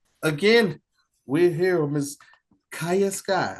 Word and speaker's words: Kaya Sky: So again, we're here with Miss Kaya Sky. I said it right this time, right? Yes. Kaya Sky. Yes, I got it right.